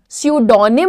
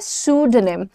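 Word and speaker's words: pseudonym: सूडो निम सूडो निम सूडो निम नहीं है यह सूडो निम कैसे ड अ का साउंड बताया था ना जब भी यू एच देखोगे अ छोटा अ तो आप बोलोगे स्यूड नेम सू नहीं सूड नेम okay this was हिज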